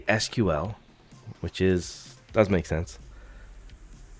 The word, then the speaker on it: SQL: seems weird Mr nibble uh so you say SQL which is does make sense and then you say I did you say it like really fast oh sequel sequel so you say sequel you know was